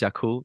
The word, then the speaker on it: Yakul: But yeah, it's it's spelled Berkeley. James Berkeley Music is my handle. And then my band is Yakul, that is Yakul.